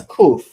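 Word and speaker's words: קוף: It's kof. Kof.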